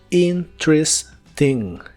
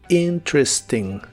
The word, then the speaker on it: interesting: interesting que significa interesante Normalmente se pronuncia en tres sílabas la primera e se omite y la segunda e se pronuncia como una I corta interesting interesting y usar emos la